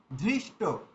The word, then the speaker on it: ধৃষ্ট: তো আমরা অনেক সময় দেখি কি হয় যে ধ আছে কিন্তু আমরা দ উচ্চারণ করে দিয়েছি। যেমন ধৃষ্ট কিন্তু অনেকে দেখবেন ধৃষ্ট বলতে গিয়ে দৃষ্ট বলে দিয়েছে।